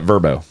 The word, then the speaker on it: VRBO: But apparently, if I'm remembering correctly, the commercial called it Verbo. I'm an acronyms guy. It's a VRBO in my I've mind.